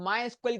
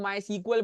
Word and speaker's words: MySQL: मकसद होता है अब माय स्कल की बात करते हैं इसको कुछ लोग माय सीक्वल बोलते हैं कोई माय स्कल बोलता है ठीक है भाई तो प्रोनाउंस से मसला नहीं है तो माय स्कल जब